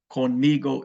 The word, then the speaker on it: conmigo: It's going to be con me, and they throw on one more syllable, go. Conmigo is the way you say with me. So do you want to speak with me? ¿Quieres hablar conmigo? Conmigo. You have to put the go on it.